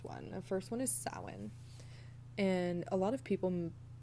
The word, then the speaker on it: Samhain: and the origin of the word is it's pronounced sin so sin is celebrated in the northern hemisphere on the